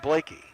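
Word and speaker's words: Bleeke: She'll throw it back out to Blakey, who spells her name B-L-E-E-K-E, but it's pronounced Blakey.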